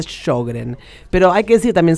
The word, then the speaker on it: Sjögren: Se escribe Sjögren y se pronuncia Sjögren.